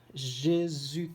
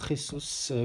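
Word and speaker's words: Jesús: Jésus Corona, ou Jesus Corona, selon si on prononce avec l'accent, Mexique, du FC Porto.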